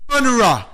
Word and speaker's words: genre: Genre. G-E-N-R-E. Pronounce Z-H-A-N-R with an upside down.